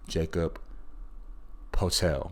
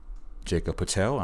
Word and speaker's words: Poeltl: attempt by Toronto center Jakob Poeltl. I believe that's how you say his name.